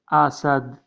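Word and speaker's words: أسد: Pronunciation in Arabic by this letter Asad.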